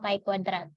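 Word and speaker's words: chi kuadrat: Dalam uji KSP atau Kai kuadrat jadi sebutnya jangan Square ya Ini bukan Chinese atau istilah apa Tapi bacanya nah pada uji KS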